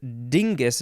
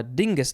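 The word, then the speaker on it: Dyngus: some deep dish pizza it is dingus day i had to click on the link to figure out what that is it is spelled d-y-n-g-u-s um and it it's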